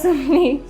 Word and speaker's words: Sumini: Sumini, am I pronouncing it? Sumini.